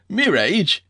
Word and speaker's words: mirage: asked Uncle Benjamin, and, not waiting for Valancy to give it up, he added, "Mirage and marriage." M-I-R-A-G-E is pronounced mirage, said Valancy shortly, picking up her tea and her beans.